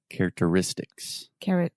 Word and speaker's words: characteristics: character character characteristic characteristic characteristics characteristics there we go perfect perfect so the stress is on the pent ultimate syllable the next to last syllable and it's actually a double stress characteristics characteristics characteristics perfect